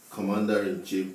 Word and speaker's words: commander-in-chief: Commander-in-chief, the stress is on COM.